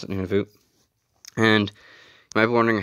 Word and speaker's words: Nunavut: I pronounce it Nunavut.